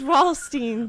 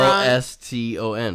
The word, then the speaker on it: Ralston: How is Ralstein? R.L. Stein cereal. It's literally R.L. Stein's cereal line, and you It's just fucking say it wrong. R-A-L-S-T-O-N. It's Ralston.